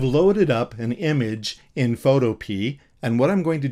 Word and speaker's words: Photopea: last video i found out that the correct pronunciation is photo p not photopia sorry about that i guess you learn something